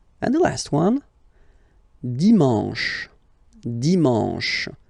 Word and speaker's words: dimanche: And the last one, dimanche, dimanche. You get the sh, and then an, en, dimanche, okay?